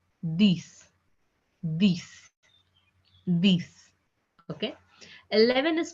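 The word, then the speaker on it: dix: 10 is pronounced as this.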